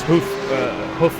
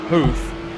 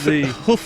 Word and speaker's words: Huff: He said it's Huff and not Hoof, but he has spelt his name with the capital U, so it might be. It might be Hoof, like that. But no, whatever the pronunciation is, he's doing a heck of a job, and that's the main thing. And well, it's Huff in the roof.